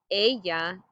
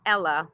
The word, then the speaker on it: ella: It's not Ella, like Cinderella or the girl's name Ella. We say ella.